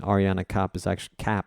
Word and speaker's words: Ariane Cap: There, Ari is spelled A-R-I, so Ari's bass blog, and the other one, Ariane Cap, is actually A-R-I-A-N-E, cap, like a baseball cap, in case you're going